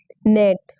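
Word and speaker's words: gnat: ये माइन है आपका वच letter is the silent in the word नेट यहां पर आपका क्या हो जाएगा जी साइलेंट है क्या है जी साइलेंट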